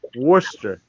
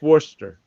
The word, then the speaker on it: Worcester: And over in Massachusetts, there's this place called Worcester, Mass. But it's pronounced. I mean, it's spelled Worcester. No, it's not. Worcester. It's Worcester. And Worcestershire? do what? Worcestershire? No, it's just Worcester.